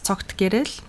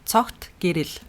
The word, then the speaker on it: Цогтгэрэл: that a lot, since it is complicated to pronounce. So my full name is Tsogtgerel. Say it again, but slowly, like this is your first name only, right? It's just my first name only. Tsogtgerel.